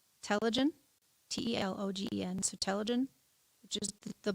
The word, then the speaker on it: telogen: i can't even it's enunciated it's called telogen t-e-l-o-g-e-n so telogen which is the bulb bottom of